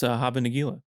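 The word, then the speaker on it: Hava Nagila: I can't pronounce this, but you guys sure can. Oh, it's Haba Nagila.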